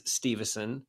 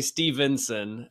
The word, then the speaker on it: Steveson: Yeah, and speaking of things that irk me, it is Steveson, and I'm glad that you said it correctly. Because I wasn't going to say it wrong because so many people spell it wrong. And Gable Stevenson's coming back. Well, they almost always say Stevenson.